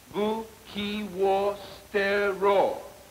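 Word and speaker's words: 武器を捨てろ: Bu. Ki wo stero. Try it again. Bu. What is it? That's better. No wonder it's better. Now try it. Your pronunciation could be improved. It's buki wo stero.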